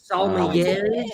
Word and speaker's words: sommelier: Sommeliers of YouTube.